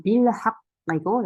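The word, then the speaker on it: بِالْحَقِّ: 여기서는 학거는 이제 달 문자죠. 그래서 여기 램 발음해요. 그죠? 우리 배웠죠? 여기서는 빌학이고 여기는 비사브르.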